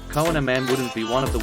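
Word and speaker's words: kouign-amann: no diet food pronounced queen of man cohen a man wouldn't be one of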